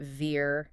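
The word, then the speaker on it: vier: My brain wants to say ver. Of course it does. But German has other plans. In German, a V at the start of a word is almost always pronounced like a hard F.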